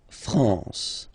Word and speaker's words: France: A-N here, nasal en. La France.